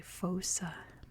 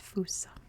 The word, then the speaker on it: fossa: It's one of those Malagasy words, where in English you would say fossa, but it is not how it's pronounced. It's pronounced fossa.